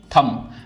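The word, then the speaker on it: thumb: ऐसे ही थंब। तो थंब में सिर्फ हम इतना पढ़ते हैं। बी यहां पे साइलेंट है।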